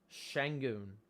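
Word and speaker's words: Şengün: side sangen's back in shangoon according to iron eagle that's the pronunciation shang cam thomas drive pastor blake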